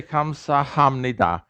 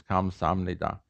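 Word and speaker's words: 감사합니다: that way they say they don't say kamsahamnida if you say come sahamnida you'll sound like you just got out of the first class and i want you to sound like you just got out of the second class i want you all to be second class so uh you should you should come out saying is the way it's really pronounced this comes omnida if you if you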